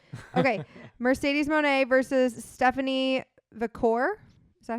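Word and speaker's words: Vaquer: Mercedes Moné versus Stephanie Vicor.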